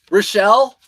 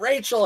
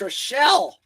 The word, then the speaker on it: Relle: Uh, Relle, you're welcome. Thanks for saying my name right. Relle, it's not Rachel, it's Relle.